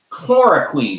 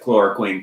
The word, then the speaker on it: chloroquine: is from March 10th based on emerging data chloroquine I believe is how you say it Clark